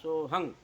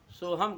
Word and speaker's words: सोहम: क्या बोल रहा है तो मित्रों सोहंग जो बोल रहा था उच्चारण दोष के कारण से सोहम कहना चाहिए लेकिन वह